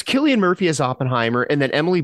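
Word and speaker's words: Cillian Murphy: Killian is it Killian Murphy Killian Murphy it's Killian Murphy as Oppenheimer and then Emily Blunt as his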